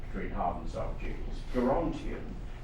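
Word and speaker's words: Gerontion: Gerontian depends throughout on what it is that you must have hard G. Geriatric, fine, but Gerontian.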